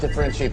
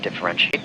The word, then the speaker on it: differentiate: When pronouncing this verb, there are 5 syllables and the stress is on that third syllable. Differentiate. Differentiate. Keep in mind that the T-I-A-T-E at the end of the word has a shiate sound. So this is when the spelling and pronunciation don't really match.